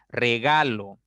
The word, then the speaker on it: regalo: Por ejemplo, acento fonológico es regalo, regalo. La mayor fuerza está en la sílaba del medio. Ga, regalo. Ese es acento fonológico que se diferencia cuando hablamos específicamente.